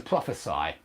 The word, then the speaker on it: prophesy: times as a verb to prophesy it sounds like the last why is an AI to prophesy but as a noun